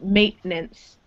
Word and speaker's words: maintenance: Yeah, so it's got this 10 in the middle, right? Yeah. But it's not pronounced. So there's no maintenance. It's maintenance. Maintenance.